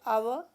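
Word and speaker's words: hour: फिर हम एन लगाते हैं, यहाँ पर एच से वर्ड स्टार्ट हो रहा है लेकिन एच साइलेंट है, जैसे आवर के बाद एन, ऑनेस्ट मैन के पहले भी एन।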